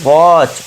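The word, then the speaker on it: watch: टी के बाद सी एच है तो यहां टी साइलेंट हो जाएगा। ठीक है? तो इसे क्या पढ़ेंगे? वॉच।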